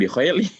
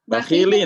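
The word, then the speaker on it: بَخِيلٍ: Oh iya, ibu bacanya jangan bikhaili. Apa? Bakhilin harusnya tadi bacanya. Iya betul, bakhilin bukan bikhaili.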